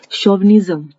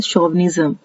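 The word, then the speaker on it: chauvinism: Next है, इसकी जो प्रोनाउंसिएशन है वो है शोविनिज्म। यहाँ पे शोविनिज्म बनेगा, ये जैसे दिखने में चार लग रहा है लेकिन इसकी प्रोनाउंसिएशन है शोविनिज्म।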